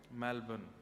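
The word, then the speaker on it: Melbourne: करेंगे कहां रहते हैं मेलबर्न हमारे एक भैया बोले मेलबर्न जो मैल को जला दे मेलबर्न मैंने कहा नहीं मेलबर्न र जो है वो साइलेंट बोलो तो लेकिन हुआ क्या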